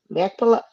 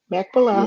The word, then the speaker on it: Machpelah: And the field of Ephron, which was, I'm sorry, can you help me pronounce that word again? Machpelah. Machpelah.